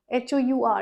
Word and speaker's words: hour: Same veg कुछ words हैं HOUR, इसे लोग बोलते हैं आवर, आवर, नो, आवर, hour, same way sour and then hour, right?